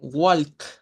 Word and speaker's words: walk: prestar mucha atención, porque cuando usted dice walk o dice chalk, en primer lugar está usando la A y en segundo lugar está pronunciando la L, que no debe de sonar. En estas palabras el patrón de sonido es casi el mismo. Es decir, esta suena como O corta, esa no suena y al final suena la K.